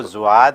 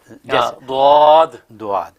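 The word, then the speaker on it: ضاد: لیکن اصل میں ان دونوں کے بیچ کا تلفظ ہے دعاد. ہاں جی، زبان کو جو وہ کنارے داڑوں کے کنارے سے لگا کے بولنا ہے.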